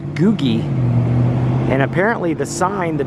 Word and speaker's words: googie: actually a play on a certain design called googie i believe it's pronounced g-o-o-g-i-e which is kind of a like